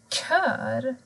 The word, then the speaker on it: kör: Men observera att K och Ö kan bli kör. De här personerna sjunger i en kör.